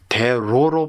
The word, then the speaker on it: 대로: 대노가 대로 바뀝니다. 그래서 선생님은 대노 하신게 아니라 대로 하신 거죠. 이것도 원래는 노지만은 화름 형산 때문에 니언을 리율로 발음을 하고 있죠.